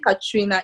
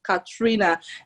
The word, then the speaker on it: Ka3na: So my name Ka3na is spelled Ka, 3 as a number, N-A, Ka3na.